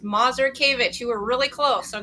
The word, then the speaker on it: Mazurkiewicz: Life Care planning and my last name is pronounced mazur kavich you were really close